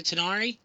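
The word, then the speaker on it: Tanar'ri: not Balor, or that the emphasis on Tannerai is on the second syllable and the I at the end is pronounced as it would in German. Oh goodness!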